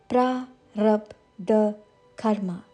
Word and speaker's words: Prarabdha Karma: Pra, with a rolling R. Pra, slightly longer. Rub, like rub with a rolling R. Rub. The sounds like the English article the book, the bag, the. Prarabdha karma.